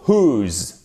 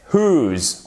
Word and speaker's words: whose: Le H se prononce, le W ne se prononce pas. Donc là, ça nous donne who et pas who, surtout pas, ok? Et là, c'est whose. On ne prononce pas le W, on prononce le H.